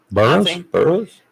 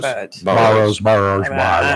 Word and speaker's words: Barrows: Burroughs? It's actually Barrows. Barrows. I just, everybody says barrels, and I just go with the flow.